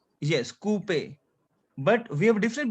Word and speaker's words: coupe: OU sound is OO in French. OO. OO. Repeat after me. OO. OO. Two. OO. So we have Two. coupe.